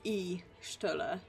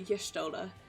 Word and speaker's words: Y'shtola: I've just realised I've always pronounced that Y'shtola, like E-shtola, as opposed to Y'shtola.